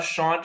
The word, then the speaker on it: Chant: podcasts uh we are the Sean show spelled like the chant show c-h-a-n-t uh we get that